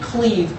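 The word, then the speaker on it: Clive: The guy he did hire from the Jets was a man named Cleve, spelled Clyde but pronounced Cleve Rush, who went on to have a nervous breakdown.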